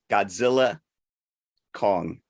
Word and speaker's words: Godzilla x Kong: other thing before we Godzilla Kong I have it on good authority by the man himself Adam Wingard the x is silent well then don't put